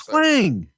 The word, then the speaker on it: Quang: Is it Quang or Quang? No, it's Quang. Okay, well, I always say it wrong. You always yell at me. Well, you're a damn Southerner. You should have the ang part of it.